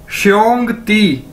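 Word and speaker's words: xiōngdì: और डी आई पीछे भी देखा है ती, तो अगर हम इसको इकट्ठा कर दें श्योंग ती, ठीक है, श्योंग ती, इसका मतलब है ब्रदर यानी भाई, ठीक है, श्योंग ती श्योंग ती श्योंग ती, भाई, ठीक है, ब्रदर।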